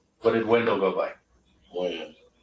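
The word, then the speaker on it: Wynn: Win. Win or Wen? Win. Win. W-E-N or W-I-N? W-Y-N-N. W-Y-N-N. Okay.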